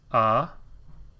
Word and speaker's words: Adonai: And the pronunciation is A-Do-Nai.